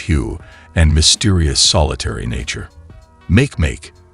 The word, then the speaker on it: Makemake: Makemake, pronounced M-A-K-M-A-K, was first spotted in